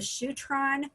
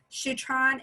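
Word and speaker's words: Shutran: Shutron is am I pronouncing that right? Yep, Shutron.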